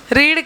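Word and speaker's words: read: शी का क्या होगा रीड का प्रोनंसिएशन भी कैसा होता है रेड रीड ऐसे होता है तो ये v3 है तो रीड ही आएगा रीड ही आता है रीड रेड रिड लेकिन स्पेलिंग तो रीड वाली ही होती है बस प्रोनाउंस एशन अलग होता है हां यस नहीं समझ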